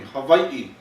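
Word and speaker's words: Hawaiʻi: Hawaii that's Hawaii right the pronunciation of this place is Hawaii so everybody repeat after me Havi yeah so you want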